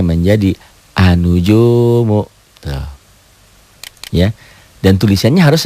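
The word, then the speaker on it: النجوم: Dibacanya menjadi anujumu.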